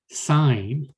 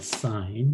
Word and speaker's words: sine: the trigonometric ratio and sine spelled with a sin but don't read it as a sin it's a sign you read that is